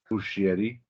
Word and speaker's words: Muschietti: Originally released on September 6, 2019, directed by Andreas Muschietti. Always pronouncing that S that you don't need.